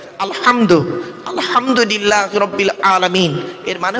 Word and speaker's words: আলহামদু: ভালো করে ফলো করুন আলহামদু আলহামদু হাউজ নয় গলার ভেতর থেকে এটা উচ্চারণ করবেন আলহামদু আলহামদুলিল্লাহি রাব্বিল আলামিন এর